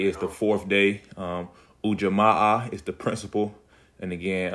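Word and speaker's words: Ujima: Quanza again today is the fourth day um UJ is the principal and again um UJ is how you pronounce it and it stands for um Cooperative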